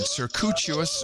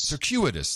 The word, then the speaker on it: circuitous: He was knighted Circuitous Root. How do I pronounce this? Cuitous. Circuitous.